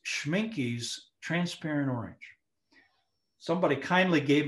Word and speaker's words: Schmincke: have any other colors in my palette by schmincke schwinky's a very good brand i think it's